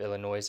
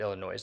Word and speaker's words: Illinois: letting me know that the S at the end of Illinois is silent I'm still going to call it Illinois though so in my